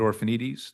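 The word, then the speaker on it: Orphanides: My name is Orphanites. Last name is spelled O R P H A N I D E S.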